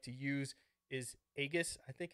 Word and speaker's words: Aegis: And the app that I like to use is Aegis, I think it's pronounced, A-E-G-I-S.